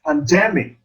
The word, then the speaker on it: pandemic: In the word pandemic, the second syllable is accented or stressed. So we say pandemic. We don't say pandemic or pandemic. It's pandemic.